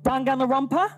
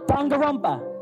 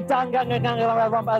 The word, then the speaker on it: Danganronpa: Danganronpa? Dangarumpa. Dangarumpa. It's the Geordie in me. So from Danganarangarangaloo, we have Zach and Chloe as Junko and Makuro. I've got to say, Danganronpa is my favourite anime, TV show, or game,